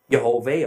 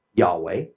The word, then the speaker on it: Yahweh: you Dave Ave which I have elected to pronounce Yahweh others have pronounced Yahweh and the word yhw H youhave Ave also